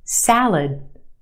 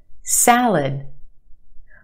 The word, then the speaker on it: salad: Where's the stress in that word, salad? If you said the first syllable, you're right. The a sound in the first syllable, salad. The second syllable is our schwa, lud, lud. It's said very quickly, and we have that sound. Lud, salad, salad.